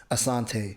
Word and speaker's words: Asante: is Asanti and but growing up everybody would always say it wrong it's a Asante ah so then I